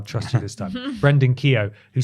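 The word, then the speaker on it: Keogh: and culture researcher Brendan how would you pronounce that k e o g h k EO K there someone there was actually someone at my school whose surname was Kio okay I don't believe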